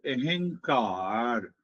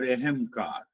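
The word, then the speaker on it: अहंकार: In Eastern wisdom, it is called ahankar, ahankar or ahamkar. Aham, two syllable.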